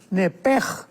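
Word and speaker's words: נֶפֶשׁ: con SH al final, nepesh. En el hebreo se pronuncia la SH con J, entonces la pronunciación hebrea es nepej.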